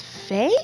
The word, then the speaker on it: Fe: game this is Faye I actually had to look that up to see if I could get the name right and I heard five different pronunciations in different videos so we're gonna go Faye just cuz I think that sounds like the best one here so we're gonna